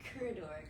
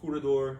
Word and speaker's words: Curador: so where where did corridor come from yeah so uh the i guess the actual pronunciation would be curador uh it's a translation